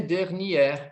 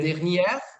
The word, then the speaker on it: dernière: Aí eu poderia dizer assim, ó, na última semana, la semaine dernière, porque é feminino, aí tudo bem, entendeu? Oui. Dernière, olha, eu abro a pronúncia, dernière.